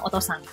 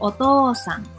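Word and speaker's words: おとうさん: Jadi kalau dalam hiragana misalnya otosang itu tuh mesti kita panjangin ngomongnya supaya benar gitu katanya. Jadi kita nggak boleh bilang otosang. Jadi otosang. Nah di katakana juga ada, yaitu pakai garis itu kita bacanya lebih panjang.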